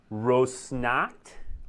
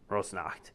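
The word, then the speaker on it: Rosnakht: things i'm gonna mispronounce rose snot or snack rose knocked rose knocked heir there we go thank you for handling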